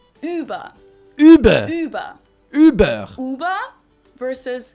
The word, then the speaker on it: Über: Now, if you added the two dots, it becomes the German word for over or above and is pronounced Über.